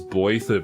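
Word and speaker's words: Blaiddyd: You say it as Blathid, but it's spelled extremely, very different from what you think.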